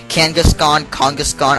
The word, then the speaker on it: Kangaskhan: Like, some people said I pronounced Kangaskhan weird. Kangaskhan, I don't know. I just based Kangaskhan off of, like, the King of the Hill character, Khan, so, I don't know.